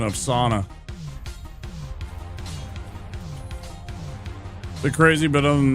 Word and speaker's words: sauna: was complaining about how all of us call it sauna, but in Finn you guys say sona.